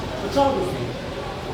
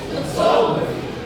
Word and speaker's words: photography: This word is not having stress on the first syllable, though. It has 4 syllable words. And it's pronounced photography. After me, everybody. Photography.